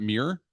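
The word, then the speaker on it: MiiR: So this, I guess you pronounce it Myrrh, or is it Mirror? I've always heard Mirror. Mirror.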